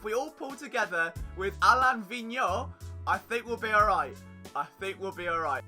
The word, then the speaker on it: Alain Vigneault: I believe, being French Canadian, the correct pronunciation is Alain Vigneault. Alain Vigneault. Okay, we can all say it together. Alain Vigneault. Not Alien Vigneault, which, if we're looking